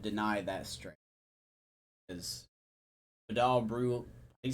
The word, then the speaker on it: Brujan: Rays would have Luis Patino and Vidal Bruce. See, I automatically would deny that straight. Because Vidal Brujan.